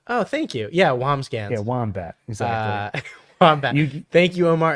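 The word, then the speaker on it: Wambsgans: by the way down you had the correct pronunciation oh thank you yeah wamscan yeah wombat thank you Omar and thank you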